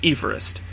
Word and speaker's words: Everest: Everest you're still wrong the British surveyor-general of India for whom the mountain was named pronounced his name as George Everest I told you Everest